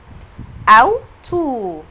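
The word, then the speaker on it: Auto: وحرف الآ وحرف الأو لما بيجوا مع بعض المقطع ده أو المقطع ده بيتنطق أو. بيتنطق أو يعني لو شفت المقطع ده أو ده في أي كلمة هنطقه أو.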